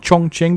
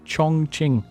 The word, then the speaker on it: Chongqing: is the chongqing in china and it is pronounced chongqing before anyone keeps you know keeps trying to correct me it's chong ching you google it go on youtube look at